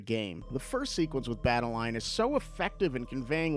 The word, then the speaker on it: Badeline: The main character, Badeline, has a physical manifestation of her anxiety, Badeline. This is a really clever name choice because it rhymes with Madeline.